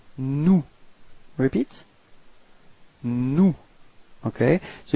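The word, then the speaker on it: nous: of the plural it's new repeat no okay so you've got this final s but you don't pronounce it okay new mhm and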